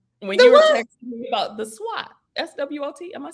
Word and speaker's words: SWOT: texting me about the SWOT, SWOT.